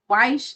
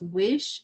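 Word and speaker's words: Wyche: Weish is pronounced Wish.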